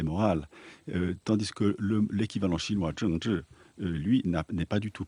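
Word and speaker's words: 政治: prononce Zhengzhi.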